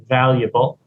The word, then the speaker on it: valuable: to create yeah valuable careful the pronunciation V valuable valuable advances Val yeah for